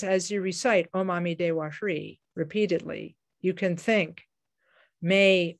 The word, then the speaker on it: Hri: After the recitation of Om Amitabha Hri, we then recite the short mantra of Amitabha, or the seed syllable mantra of Amitabha, which is Hri, H-R-I, Hri.